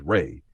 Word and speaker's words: Ra: of life and growth which is pronounced as ray as in the rays of the sun.